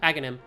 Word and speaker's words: Aghanim: Yep, Aghanim. It's the H, there's like, Aghanim and Sahasrara have weird H's in places you're not supposed to pronounce them.